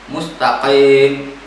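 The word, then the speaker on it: مستقيم: kurang Hai dermayu-hongkong ihdinashirotolmustakim mustaqim bukan Mustaqim Hai harus bisa membedakan antara ke ruko dengan grup hub Hai telur lovebird cepat kita masuk ke dalam tenggorokan mustaqim bukan mustaqin mustaqim sering terdengar sepintas Hai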